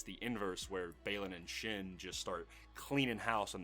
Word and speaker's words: Shin: an order to uh to to it's it's pronounced Shin right yeah shin hotti and then and she